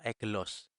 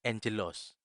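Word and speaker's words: ἄγγελος: misalnya dari kata ini kata ini tidak dibaca eclos tetapi diucapkan atau dibaca Angeles oleh karena huruf kamu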